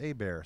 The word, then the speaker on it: Hebert: right i'm at a bear which is KY le heb ERT it's spelt like hebert's but it's pronounced a bear so think a bear